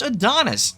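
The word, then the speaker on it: Adonais: It's spelled that way but it's pronounced Adonis.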